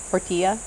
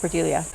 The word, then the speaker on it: Portilla: as antherium David Portia Portilla Poria sorry for mispronouncing here in the Philippines the Double L is y yamas y yagas so David pilia so the plant that's